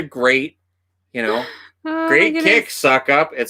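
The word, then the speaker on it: Succop: in a game and his last name was s-u-c-c-o-p it's pronounced suck-up they're like and suck-ups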